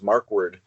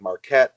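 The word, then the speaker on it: Markwardt: of a lot of people can't pronounce my last name properly which is mark word and so I've heard like Marquette Marquardt mark netted all kinds of crazy things so I thought Kevin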